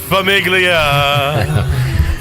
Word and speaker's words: Famiglia: host clip all right g is silent rough day for Zach that's Famiglia we all have one